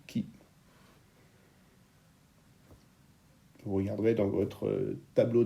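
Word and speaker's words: χ: Ça s'écrit chi, mais ça se dit qui.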